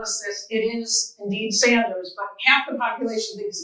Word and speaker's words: Sanders: Okay, folks, it rhymes with Michiganders. They told us this. It is indeed Sanders, but half the population thinks it's Saunders. And as we like to say in Michigan, Sanders.